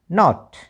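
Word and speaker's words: knot: के एन आई एफ ई क्या बन गया नाइफ, के एन ओ टी नॉट। एल कब कब साइलेंट रहता है, एल एम में एल साइलेंट रहता है।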